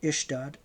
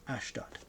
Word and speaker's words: Ashdod: Their van, it's pronounced here Ishdod, and then in brackets Ashdod. Two pronunciations.